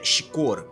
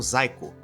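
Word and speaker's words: Xicor: pronúncia correta não é chicor pois o x em inglês em alguns casos tem som de z então a palavra zaiko soava como zaiko em mídias posteriores o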